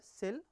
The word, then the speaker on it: CIL: So, Common Intermediate Language, the Common Intermediate Language CIL pronounced either sell or kill.